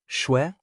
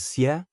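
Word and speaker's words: 血: Example, shwe, blood, can also be pronounced as xie, blood.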